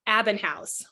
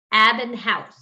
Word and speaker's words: Abbenhaus: we say your last name how do we pronounce what what is your full name uh it's abinh housee abinh housee yep okay and we'll put all of this